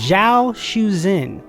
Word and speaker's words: Zhao Shuzhen: Her name is Zhao Shuzhen, and it's spelled Z-H-A-O.